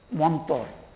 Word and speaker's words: mantra: So in Bengali, in colloquial language, Bengali, mantra is a very pure Sanskrit pronunciation. It is not pronounced like that. They will say in colloquial, talking language, they will say Montor.